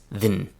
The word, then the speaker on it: than: In reality, the pronunciation that everyone uses is then.